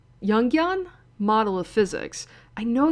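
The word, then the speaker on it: Jungian: criticisms of the Newtonian yungan yungan model of physics I know that's I you don't pronounce the J like that you pronounce as young it certainly does feel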